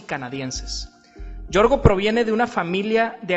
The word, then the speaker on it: Georgius: En esta ocasión me tocó platicar con Yorgo. Si lo quieres seguir en redes sociales, lo puedes encontrar en Instagram como. Yorgo se escribe Georgius.